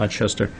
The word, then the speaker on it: Ochester: Is that how it's pronounced? Mm-hmm. Ochester.